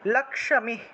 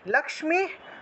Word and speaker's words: লক্ষ্মী: যে লক্ষ্মী আছে না আমরা বাংলায় যেটাকে লক্ষী উচ্চারণ করি খিয় তারপরে ম তারপরে দীর্ঘ ইকার তারপরে বিসর্গ ছিল এটাকে আমরা লক্ষ্মী উচ্চারণ করব লক্ষ্মী এখানে ভেঙে দিয়েছি